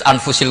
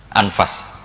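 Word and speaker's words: أنفس: Saya di sini ditulis anfusil kutub kalau saya baca anfasilutub karena maknanya kitab ter baik Kalau kitab terbaik bacanya bukan anfus tapi apa anfas ya nanti kamu debat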